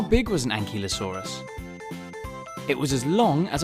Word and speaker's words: ankylosaurus: you say that again an key low saw russ how big was an ankylosaurus it was as long